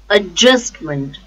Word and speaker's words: adjustment: adjustment um just mend the stress is on just adjustment stress is on second syllable just adjustment admission admission the